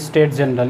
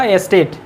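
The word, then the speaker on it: Estates General: स्टेट जनरल नहीं बेटा, यहाँ पे सबके पहले ई लग रहा है, तो इसको कैसे प्रोनाउंसिएशन करना है, स्टेट व एस्टेट।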